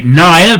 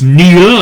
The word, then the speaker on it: Neil: of his name because people see it and say Niall, but of course it's Neil, and he's... Anyway, there you go. My brother-in-law, who is a Gaeilgeoir, an Irish speaker, disputed what Neil was saying about that.